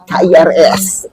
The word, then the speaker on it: QRIS: apa Kris ya bacanya Kak? KIRS. Oh ya, gitulah pokoknya Iya. Kris itulah ya Sobat Magic itu.